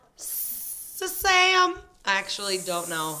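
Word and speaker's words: 쌈: they say then less is more it's literally pronounced sam or making sam's spelled s-s-a-m perfect and it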